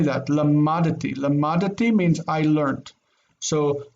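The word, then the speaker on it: למדתי: Lamadti almost makes that dalet disappear. So we actually pronounce this seemingly silent shva as lamadati. And we really say that, lamadati.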